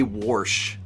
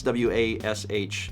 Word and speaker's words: wash: you say warsh well if you write it out warsh i'm going to read it as wars but i i pronounce w-a-s-h as wash that is a trait that i do not inherit from my mom who adds r's unnecessarily to words but that's a regional thing because there's a lot